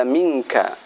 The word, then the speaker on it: منك: yaitu seperti bacaan pada minka. Minka ketika berhenti mink, min dibaca dengung, kemudian kaf ada hamasnya, mink.